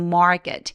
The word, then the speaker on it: market: to the market maret 엄청 긴 장모음이기 때문에 소리를 여유롭게 소리내 주세요 on the way to the market 지금 노란색으로 되어 있는 부분들 열심히 길게 발음하고 계신 거 맞죠 그리고 마켓 보다는 market 하면서 강세 뒤에 오는 크 소리들은 조금 된 소리를 내면서 소리를 죽여 주세요 on the way to